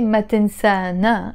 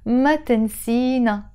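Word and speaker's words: ما تنسينا: object pronoun it's us we don't say matinsa na anymore no for both masculine and feminine we would pronounce it in the same way we would say matensina don't forget us why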